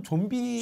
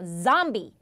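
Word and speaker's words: zombie: 흥행을 하다 보니까네 어화 흥행하고 있다 좀비 있잖아요네 발음이 어떻게 돼 영어로 좀비 좀비 좀비 하면은 못 알아듣죠 굴려 주셔야 됩니다 좀비가 아니라 자비로 갈게요 점비 점비 그 유명한 그 Z 발음 약간 여러분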